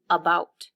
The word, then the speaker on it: about: So listen to about. When I say the first syllable, it's a little quieter, and the stress is on the second syllable, about.